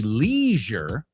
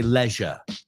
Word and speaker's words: leisure: Oh, German, I think you wanted to say it then in British English. So it would rhyme. Because remember, Americans say leisure para ocio. And Spanish, no. British people say leisure.